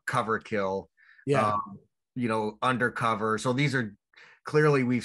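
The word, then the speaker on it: Under Cöver: of them ozzy did undercover motorhead did under if we pronounced it with the umlaut that it has under cover but it's actually undercover saxon recently brought out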